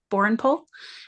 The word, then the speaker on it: Borrenpohl: sure that I um pronounce it correctly and spell it correctly. Sounds great. It's Borenpole.